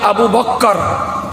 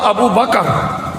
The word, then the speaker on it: আবু বকর: আবু বকর এবং ওমর যারা আমরা বলি আবু বক্কর শব্দটা ঠিক না একচুয়াল উচ্চারণ হলো আবু বকর বাক্কার আর বাকার দুটো উচ্চারণ এক বাবা বাংলা যদি বুঝি তাহলে বকার ক আর বয় আকার কয় কয় আকার দুটো শব্দ এক যারা আমরা আবু বক্কর